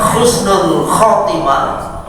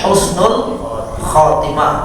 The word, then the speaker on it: Husnul Khatimah: itu Pak ha husnultimah kalau Khatimah pakai Ko Jadi Yang Pertama ha yang kedua Ko Jangan pakai k semua kalau pakai khusnul khatimah ya kalau Husnul berasal dari kata hasanun baik Khatimah itu akhir khatim jadi akhir yang baik tapi kalau bapak bacanya Khusnul pakai k Khusnul itu khas apa khosen khosen itu artinya hina jadi Kalau Khusnul Khatimah